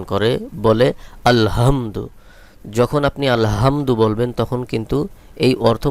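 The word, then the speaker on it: الحمد: এখানে যে হা রয়েছে এই হালকের মধ্যখান থেকে উচ্চারণ করতে হবে। হলকের মধ্যখান থেকে একটু চাপ দিয়ে উচ্চারণ করতে হবে। আলহামদু অধিকাংশ লোকে এটাকে ভুল উচ্চারণ করে বলে আলহামদু যখন আপনি আলহামদু বলবেন তখন কিন্তু এই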